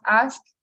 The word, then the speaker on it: asked: And then we have asked, asked, and asked, right? Notice that my pronunciation ends in T.